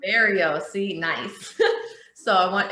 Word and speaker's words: Oliverio: Can you give me the proper pronunciation? Because I feel like I never say it right. It's Oliverio. Oliverio.